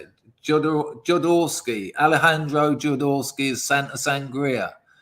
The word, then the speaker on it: Jodorowsky: Jodorowsky.